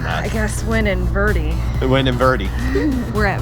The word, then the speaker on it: Verde: of the way is the way they pronounce it we're gonna have to get used to it's verdi oh i don't like that